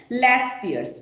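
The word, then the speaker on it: Laspeyres: index में सबसे पहला मेथड हम लोग सीखेंगे लस पियर्स ठीक है तो लस पियर्स ये स्पेलिंग है एल ए एस पी ई वाई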